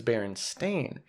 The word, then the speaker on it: Berenstain: bernstein bernstein e-i-n yeah but it's baron stain so is it that